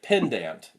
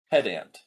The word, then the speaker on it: pedant: She said pendant, not pedant.